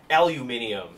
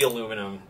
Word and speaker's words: aluminium: correctly and that is aluminium should not be aluminum if we are us americans are 100 wrong on that front it should be aluminium uh we only call